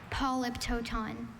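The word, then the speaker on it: polyptoton: Polyptooton. Polyptooton. Polyptoon. Are there any alternate pronunciations?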